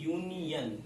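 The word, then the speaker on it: union: ठीक है, जैसे देखो अगर आप यूनियन की बात करो, यूनियन में पहला अक्षर इसका वॉवेल है, लेकिन इसका उच्चारण हिंदी देखिए यूनियन। ठीक है, यूनियन पहला अक्षर यू है, जो कि इसमें से इंक्लूड नहीं करता, इसलिए यहाँ पर ए लग जाएगा।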